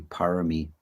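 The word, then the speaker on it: pāramī: In Pali, it's generally parami, and in Thailand they pronounce it barami.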